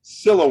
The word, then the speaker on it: Siloam: pronunciation of this and google told me siloam and then you told me siloam right so it's siloam all right we're going